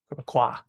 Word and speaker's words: Québécois: So the S is not pronounced. Québécois, Quebecois, the if you're French.